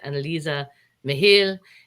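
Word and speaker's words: Anneliese Michel: it's uh supposedly pronoun it's supposed to be pronounced analisa mihil and i'm going to try and say it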